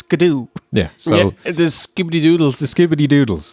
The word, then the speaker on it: Scadu: They took too long to tell people it's pronounced Scadoo or Shadow. No, it's Scadoo.